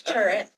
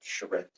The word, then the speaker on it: charrette: I thought it was turret. whatever it is. It's a word I've never heard before. and Yeah, it's That's one of those French things. Yeah, that's very unusual. I've heard others pronounce it charrette.